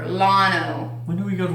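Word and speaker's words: Llano: I didn't know what to do with my hands, so this is one that we go to every summer, and it's pronounced Lano or Lano.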